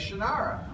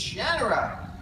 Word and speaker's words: Shannara: I said, you know, it's Shannon phonics. You divide the shara that nobody pronounced it that way. Everybody says Shinara. And when I went to the studios for the first time to talk about uh the names, they're all pronouncing it Shannara. And I said, "Wait a minute. Wait a minute. That's not how you pronounce it. It's Shanner."